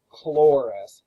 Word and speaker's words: Chloris: Um, when you come to C's and you're trying to pronounce a C, it's always pronounced like a hard K. There's no soft C's in ancient Greek. So, anytime you see a C like alchemy, El alchini and here is chloris. It's never ch.